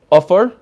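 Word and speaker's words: עפר: Here you have offer, dirt. It's spelled with an ayin and a comments, offer. Here you have ashes, afer.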